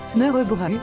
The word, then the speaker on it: smørrebrød: Mais le smørrebrød, prononcé smørrebrød, se décline à l'envie, et vous pouvez donc